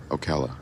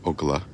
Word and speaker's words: Ocala: Ocala, as it's pronounced, not Ocala, which is the Finnish pronunciation.